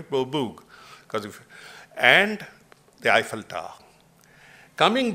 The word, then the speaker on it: Beaubourg: is the Centre Pompidou, which they call Beaubourg, just to pronounce it the right way, Beaubourg, and the Eiffel Tower.